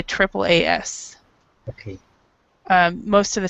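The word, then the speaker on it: AAAS: most of the time in English when there's three A's in a in Three A's in a row it we will say Triple A we'll say Triple A S okay um most of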